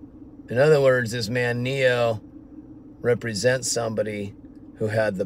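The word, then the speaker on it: pneo: Speaking of the Matrix, they get Neo, N-E-O, they get his name from this Greek word, neo. The P is silent.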